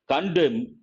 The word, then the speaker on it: condemn: Condemn, N is silent, it's a verb.